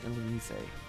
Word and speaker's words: Illumise: That is the official pronunciation, Illumise.